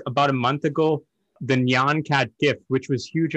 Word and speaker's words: Nyan: do you say that the nian cat the naan cat i believe it's nyan yeah yeah and that